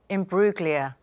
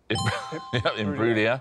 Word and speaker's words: Imbruglia: So you know what I thought was really impressive there is how he remembered that silent G.